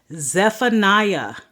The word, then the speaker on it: Zephaniah: k habaka the next book of the Bible Zephaniah z e p h a n i a